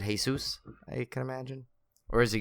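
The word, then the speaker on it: Jesús: see I always get the back looks like Jesus - anytime I see it's written there I'll pronounce it Jesus when it's a Seuss and then when it supposed to be hey soos it's pronounced I can't wait but uh and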